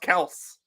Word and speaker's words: Kelce: oh yeah, by the way, it's pronounced Kels. Like, sorry, Travis, we're not fucking calling you Travis Kels.